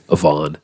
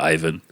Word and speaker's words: Ivan: that you give it the real Russian pronunciation there Avon Avon instead of Ivan yeah I've always heard people say Ivan Ivan Drago and that's not it's Avon it's got to be